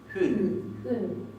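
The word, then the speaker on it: hún: tenemos para el femenino hun. Y fíjense que acá tenemos la U y no tiene acento. Y no se pronuncia U, es hun.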